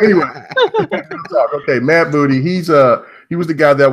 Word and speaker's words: Matt Booty: Yeah, Matt Booty. That's right. Matt Booty.